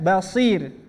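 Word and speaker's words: بصير: Misalkan kita bertemu dengan lafaz misalkan basir. Ya, basir. Misalkan. Coba bareng-bareng basir, coba. Basir. Ya, ro-nya dibaca tipis, sebelumnya kasroh.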